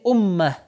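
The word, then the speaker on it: أمة: امت آخر میں یہ جو تائے گرد موجود ہے، اسی لیے اگر یہ امت اس کے آگے کوئی ورڈ نہ ہو تو عربی میں اس کو تلفظ کریں گے امہ.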